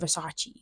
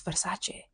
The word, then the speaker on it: Versace: Like Versace isn't Versace. It's Versace. So just say Versace.